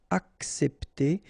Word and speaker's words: accepter: All right, accepter. So in that case, you've got these two say, and then we tend to pronounce it accepter.